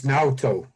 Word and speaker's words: Naoto: It's Naoto. Now go. Yeah, Naoto.